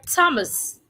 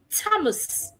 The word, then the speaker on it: Thomas: Take for example, the word Excuse me, the word Thomas. In this word, we have letter H beside letter T. In this word, the H is silent.